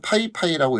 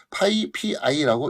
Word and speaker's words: PyPI: 어 사람마다 조금 다른데 어떤 사람은 파이 파이라고 읽고 어떤 사람은 파 pii고 읽기도 합니다 자 그것은 뭐 어떻게 읽든 자유기 한데 우리가 파이파이 또는